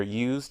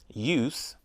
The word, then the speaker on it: use: you close the window use with is a noun for example I don't have a use for that use with z is a verb for example I use that lamp every day in the middle of